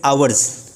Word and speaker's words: hours: इट्स नॉट हॉर्स, इट्स आवर्स. या तो ऑर्स बोलेंगे या फिर आवर्स बोलेंगे.